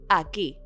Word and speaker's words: aquí: The word for here in Spanish is simply aquí. Aquí, with an accent on the I.